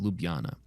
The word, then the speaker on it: Ljubljana: We found a really inexpensive flight to the capital of Slovenia, which I think is pronounced Ljubljana.